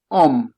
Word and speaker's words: homme: H h hempio hom om hom non si pronon h non pronunciare h in franchise homme Om hom de italian i I iola in italiano i I io.